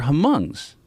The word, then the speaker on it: Hmong: Well, they were Hmongs. Okay. You know, Hmong is like Yeah. this. If you saw Gran Torino, that movie with Clint Eastwood. I think the H is silent.